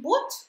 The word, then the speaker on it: bought: Нет, она из старого слова, она не произносится. Это просто «о». «О». Просто «о». Но при этом в слове «boat» как раз присутствует вот этот открытый дифтон.